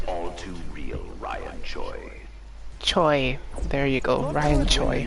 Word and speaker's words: Choi: Choi. There you go, Ryan Choi. Ninjas know your name. Begin. So I was pronouncing it wrong.